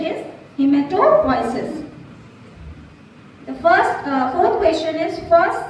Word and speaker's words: hematopoiesis: Sorry, मतलब answer is correct, but the pronunciation is not correct. Hematopoiesis is the correct option. Yes, answer is correct. We have to consider it, but the pronunciation is hematopoiesis.